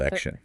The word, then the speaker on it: election: specifically draw attention to how adding ion changes the pronunciation of that final T Oh, right, from at in elect. to a shesh sound in Actor Jeff- election.